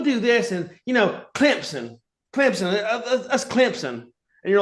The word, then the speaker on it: Clemson: they say it, but they like speed up the M and the S to where it's Clemson. Clemson."